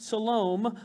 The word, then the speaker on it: Salome: mother of james and salome that's just fun to say it looks like salami if you say it wrong all right shalom brought